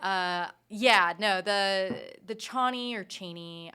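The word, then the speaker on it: Chani: yeah no the the Chie or Cheney I think it's actually supposed to be pronounced cheny but it's just too dick chy dick chy I think Chie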